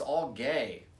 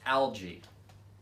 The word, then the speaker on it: algae: turning pink because it's all gay I'm sorry I'm being told this pronounced algae I thought the glacier was all gay during deposition Johnny Depp